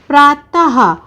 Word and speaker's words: प्रातः: जैसे प्रातः, और उच्चारण होता है हा का, क्योंकि देखिए आहा बोलते समय हमने हा का उच्चारण किया ना, तो प्रा और ता पीछे आहा की मात्रा, तो हमारा शब्द बना प्रातः। उसके बाद अतः, अ त,